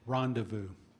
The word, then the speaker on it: rendezvous: Rendevu.